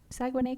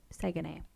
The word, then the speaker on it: Saguenay: He was born in Saguenay, Quebec. Saguenay. How do you spell it?